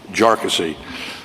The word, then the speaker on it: Jarkesy: And by the way, it's pronounced Jarkesy, not a number of other ways that it's been pronounced by many.